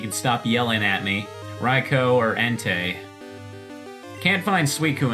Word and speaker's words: Raikou: I wonder how long it'll take before I run into either Raikou, there I said it right, you can stop yelling at me. Raikou or Entei.